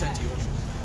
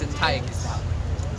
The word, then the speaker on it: Antiochus: It's Antiochus. And I think it was Antiochus. Some brothers pronounce Antiochus.